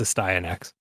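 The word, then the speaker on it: Astyanax: game on nes uh a stye in x yeah there you go i've always wondered how to pronounce that i have a vhs from jaliko that it pronounces it so it's a stein x nice thank you it's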